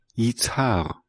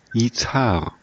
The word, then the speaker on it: Izhar: Izhar? How does the Hebrew pronounce it? Yitzhar. Let's try again. Yitzhar.